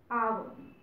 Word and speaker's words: hour: Because sometimes what happens, suppose there is a word hour. Here H is silent.